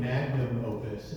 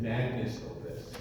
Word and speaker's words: magnum opus: In the first sentence, instead of saying magnum opus, I said magnus opus.